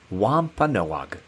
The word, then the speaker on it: Wampanoag: Their name is pronounced Wampa Noag, which means people of the dawn and people of the first light.